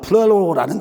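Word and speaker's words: πληρόω: 그 말은 플레로, 헬라어로 봐서는 플레로라는 발음을 해요.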